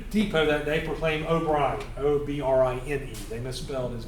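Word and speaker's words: O'Brine: See, even down here, the post office, O'Brien Station PO, O''Brine. Like brine, like salt with O in front of it.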